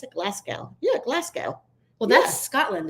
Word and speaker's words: Glasgow: following from Glasgow is that the how you pronounce it Glasgow yeah Glasgow well that's Scotland isn't it oh